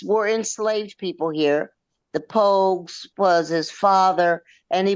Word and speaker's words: Pogue: I'm going to say Page. Is that how you pronounce his last name? P O A No, G E. George Coleman Pogue.